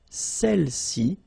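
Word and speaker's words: celles-ci: Feminine plural, celle-ci. Okay, don't pronounce the final S. Celle-ci, celle-là.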